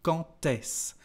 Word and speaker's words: quand est-ce: For example, here we've got a liaison between the word quand and s, and when we've got a d, the pronunciation is like a t. Quand est-ce?